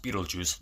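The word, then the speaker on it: Betelgeuse: and Adam read about Beetle Geist pronounced Beetle Juice like the star Lydia starts taking pictures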